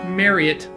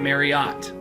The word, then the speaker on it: Marriott: so by the way side note it is pronounced mariette not Marriott the guy himself mr.